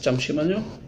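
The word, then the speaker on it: 잠시만요: Chamang bigkas Chamsimanyo.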